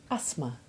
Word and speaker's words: asthma: And occasionally, TH can be silent. As in asthma.